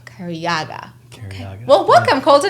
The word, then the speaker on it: Cariaga: you say your last name it's uh it's cariaga kariaga well welcome Colton how you doing today yeah